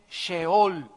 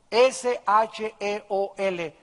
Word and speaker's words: Sheol: a un lugar que en el hebreo se escribe Sheol, S-H-E-O-L, Sheol.